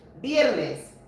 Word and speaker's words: viernes: That's how you say it in Spanish, viernes.